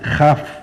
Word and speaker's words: kaf: Como en la kaf, en vez de llamarse kaf es jaf.